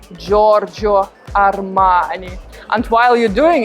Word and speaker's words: Giorgio: again super italian guys not jojo armani no it's not correct giorgio armani there are two erem